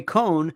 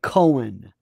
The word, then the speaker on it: Roy Cohn: Roy Cohn. A lot of people say Roy Cohen. They always pronounce his name Cohen. Roy Cohn would have done this.